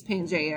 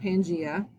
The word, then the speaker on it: Pangaea: And in your head, you're probably saying, yes, miss, it's Pangaea or Pangea. Doesn't matter how you say it.